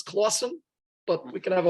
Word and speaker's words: Clawson Point: to the point of Clawson Point, which some people might mispronounce as Classen, but I read it and Forgotten New York agrees with me that this was Clawson.